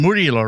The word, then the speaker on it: Murilo: I think I broke the pronunciation. Murilo, right?